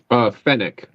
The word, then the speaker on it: Fennec: So now you pronounce, is it Finnick or Fennec? Fennec. Fennec. Okay.